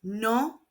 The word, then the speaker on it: noviembre: Octore and November is no pronounced no. Remember that the letter V is pronounced more like the English letter B.